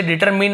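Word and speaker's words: determine: का मतलब होता है, इसे डिटरमिन ऐसे भी पढ़ते हैं, ठीक है, क्या पढ़ते हैं, डिटरमिन ऐसे भी पढ़ते हैं, डिटरमाइन भी पढ़ते हैं, वही ब्रिटिश और अमेरिकन एक्सेंट होता है।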